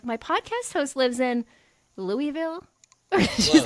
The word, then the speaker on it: Louisville: I'm like, my podcast host lives in Louisville. She's like, Louisville.